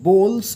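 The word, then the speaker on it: bowl: নিয়ে এসো ঠিক আছে বোলস এর উচ্চারণটা বাউল হবে না কিন্তু ঠিক আছে অনেকে বাউল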